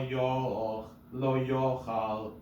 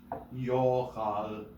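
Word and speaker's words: יֹאכַל: Lo yochal kodesh. Lo yochal kodesh. Nobody does that. Mercha is mercha. Yes. So you don't say yochal. No, because the accent is on yo.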